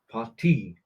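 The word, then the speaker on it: Partie: party Shack yeah exact it's not a party because it's a part part not not that obvious but yeah the emphasis is more on the second syllable party yeah it's not a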